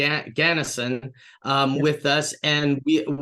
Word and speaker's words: Ganesan: everybody we're back with Annie Gan um Gan ganison is that am I saying it correctly yeah